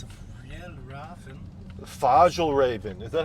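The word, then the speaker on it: Fjällräven: Fagelraven. Is that how you say it? How do you say it? Real raven. Fjellraven.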